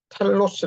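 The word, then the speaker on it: τέλος: 번역된 원어 번역된 자 어 헬라 원어는 자 텔로스 발음이 되는데 같이 한번 해 보실까요 영원으로 이어지는 종말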